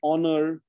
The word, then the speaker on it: honor: Okay, now the H, the letter H is sometimes silent at the start of words like honor, honest.